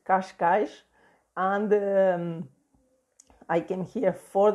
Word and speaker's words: Cascais: time to catch guys it's pronounced like this in Portuguese gosh gosh and I came here